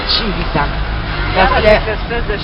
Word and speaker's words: Civita Castellana: Ça s'écrit Civita, mais c'est Civita.